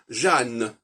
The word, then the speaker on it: Jeanne: c'est intéressant de regarder le prénom Jean, qui est un prénom typiquement français au niveau de la sonorité, Jean. Hein, on n'entend ni le N, on n'entend pas le N, c'est Jean. Par contre, au féminin, ça devient Jeanne.